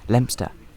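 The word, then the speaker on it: Leominster: minutes we arrived into one of the most mispronounced names in the UK lempster most known through its antique shops and timber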